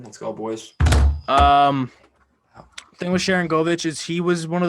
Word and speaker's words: Sharangovich: Don't know if he played in the KHL at all, but Shankovic, is that how you say it? Sharangovich.